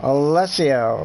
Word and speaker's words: Alessio: Alessio, minute 30. Alessio. Like Casio.